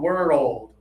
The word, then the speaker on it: world: World. World. Yeah, and then you can get a little faster as you practice, but slow it down to two syllables to be more clear.